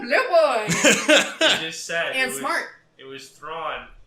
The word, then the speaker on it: Thrawn: and smart it was thrawn who rhymes with tron so yeah today's topic